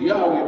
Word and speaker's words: Yahweh: In order to make the Tetragrammaton pronounceable Yahweh in English, as it is pronounced Yahweh by the Hebrew-speaking people, we as English-speaking people,